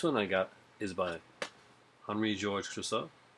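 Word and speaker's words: Henri-Georges Clouzot: Next one I got is by Henri Georges Clouzot. There, that's my French Canadian way of saying it. Say it, French. Go ahead. Mm-hmm. Say his name. Henri Georges Clouzot.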